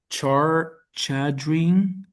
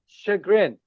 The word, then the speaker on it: chagrin: We already mentioned credibility like trusting something and so much to the char chadrin shagrin.